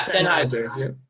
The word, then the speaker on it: Sennheiser: If I could real quick, I just have never even heard of Sennheiser. Is that how you say it, or Sennheiser? Yeah, Sennheiser. Yeah.